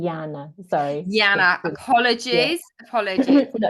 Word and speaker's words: Jana: Now I pronounce my name Jana. Sorry. Jana, apologies.